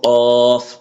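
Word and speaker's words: ق: শুরুর মিম, মাঝের মিম, শেষের মিম, শুরুর অফ, একটু গলার ভিতর থেকে উচ্চারণ করতে হবে।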